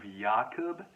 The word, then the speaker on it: Jakub: I actually believe it's pronounced The Books of Jakub in the Polish, but I'm not Polish,